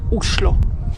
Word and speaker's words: Oslo: And actually, in Norwegian, the right way to pronounce the name of the capital is Oslo.